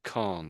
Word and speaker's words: Khan: Khan.